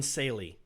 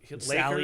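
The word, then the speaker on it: Salley: Robert Horry and John Saley are the only players that won championships with 3 teams. John Sally. Sally, I said it wrong.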